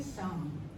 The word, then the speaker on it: psalm: तो बाइबल में जो हिम्स है उनको कहते हैं साम, PSALM, साम। P भी साइलेंट, L भी साइलेंट, अंग्रेजी भाषा के लिए खुली है।